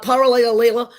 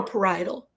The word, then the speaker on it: parietal: Parietal, not parietal, not parietally, not parallel. It's parietal.